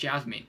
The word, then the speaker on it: Yasmin: I think it's Yasmin. I think you pronounce the J as Y, right? Because you pronounce certain names with the J as Y, don't you? But yeah, it's Yasmin.